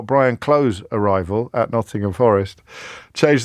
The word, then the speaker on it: Clough: But the producer has never heard of him, or indeed of Brian Clough. In fact, I just had to teach her how to pronounce the word Clough, Clough.